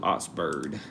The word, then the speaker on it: Augsburg: And before I say their name wrong, if I said it wrong, I'm going to use the pronunciation tool. Yeah. Ouxburg. Also old more old soundish, but Oxburg. All right, we're gonna do Oxburg.